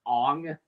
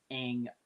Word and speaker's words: Aang: literally the main character, his name is pronounced Ong instead of Aang, it's like, dude, what the hell were you thinking?